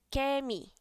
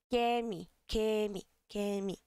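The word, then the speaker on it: 개미: Da mesma forma que formiga, kemi, não é tão aberto, mas também não é né? Kemi, kemi, kemi, beleza?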